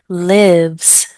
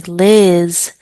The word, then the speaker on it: lives: Lives, lives. A lot of times I have people say Liz. No, Liz is a name. Lives, lives. You have to make sure that they pronounce every letter correctly.